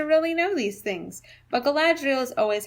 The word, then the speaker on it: Galadriel: I think I've heard most people put the accent on the second syllable, so it would be Galadriel.